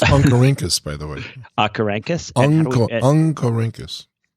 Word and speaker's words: Oncorhynchus: It's pronounced Oncorhynchus, by the way.